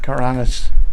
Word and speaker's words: Karanac: When the C does not have a mark over it. It's pronounced kind of an S st.